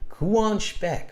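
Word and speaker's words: Quvonchbek: Kuan Shbek. Okay, I would have never guessed that. Kuan. So the V is silent.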